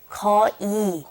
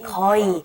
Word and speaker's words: 거의: And then the second one is 거의, but we don't pronounce it 거의. We say 거의. Okay, 거의.